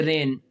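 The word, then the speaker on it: reign: और ये रेन, दौरे हुकूमत, इसमें भी जी साइलेंट है। ठीक है, इसको अक्सर बच्चे रीजन पढ़ते हैं, रीजन नहीं है, ये रेन लफ्ज़ है, इसका मतलब क्या है, दौरे हुकूमत।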